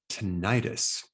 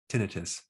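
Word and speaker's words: tinnitus: on how to stop tentis or you can pronounce it tinius now this technique was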